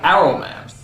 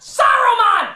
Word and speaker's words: Saruman: Saruman, you idiot! It's pronounced Saruman! The S isn't silent!